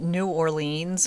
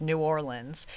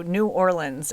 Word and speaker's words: New Orleans: Today we're headed to Nola aka New Orleans, Louisiana to talk about a mom of two who disappeared back in 2002. I have been calling it New Orleans my entire life, but the last time I